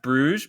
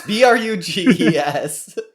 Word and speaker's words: Bruges: It may be pronounced Bruges, but it looks like Bruges. Yes, Bruges.